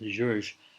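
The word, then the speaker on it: György: I think it's technically pronounced Georges. I always call him Georgi, but Ligeti, Sonata for Viola, from written in the 90s.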